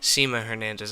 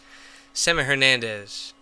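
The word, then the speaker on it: Sema Hernandez: of John Cornyn is Seema Hernandez I'm sorry Seema Hernandez I've been mispronouncing her name Semmy Hernandez is running against John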